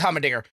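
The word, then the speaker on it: Heimerdinger: Might be saying his name wrong. I think it's Hummendinger.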